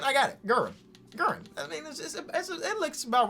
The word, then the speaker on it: Guerin: We got number 4, which is Richie Guillen.